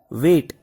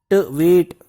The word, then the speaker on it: weight: Apple and mango, they both have the same weight. This is read as weight, W-E-I, weigh, G-H-T, weight. This G-H is silent over here, weight.